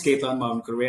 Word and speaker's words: Ketan Mavinkurve: So my name is Ketan Mavinkurve. I think you got that pronunciation spot on, really.